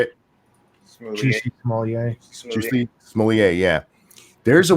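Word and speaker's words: Jussie Smollett: Juicy Smollett.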